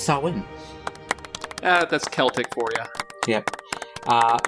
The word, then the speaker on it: Samhain: But it's pronounced Samhain.